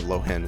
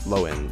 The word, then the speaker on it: Lohen: Or it's not Lohen, it's Loen, yeah. I know the H is silent, but I keep going back to the Lohen.